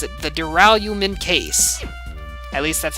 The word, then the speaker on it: duralumin: And all the confiscated dangerous items were supposed to be placed in that duralumin. I looked it up. That's how you pronounce it. The duralumin case.